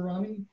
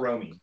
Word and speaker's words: Rommie: Do we have any quick questions for Rommie? It's Rommie, right? Not Romy. It's Rommie. I hate mispronouncing people's names, which makes it okay. Very difficult, but I'll remember to say Rommie.